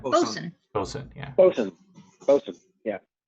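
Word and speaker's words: boatswain: BOSUN. Bosun. Bosun. Yeah. Bosun. Yeah. Not spelled like that, but it's pronounced like that.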